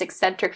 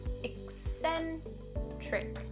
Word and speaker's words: eccentric: The first one is the k sound, and the second C is pronounced with the s sound. Hear that? The k and the s sound. Eccentric. Eccentric.